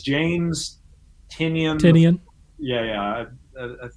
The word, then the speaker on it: Tynion: It's James Tynion. Yeah. I think that's how you pronounce his name.